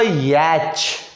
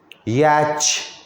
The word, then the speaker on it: yacht: लिखता है, given on the next page is a picture of अ याच। ये वर्ड, ठीक है, पहले पढ़ना सीख लो, उसके बाद स्पेलिंग याद रखना। याच, YACHT।